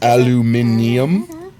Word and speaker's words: aluminium: If you spell it with the second I, it's aluminium. Even on American English?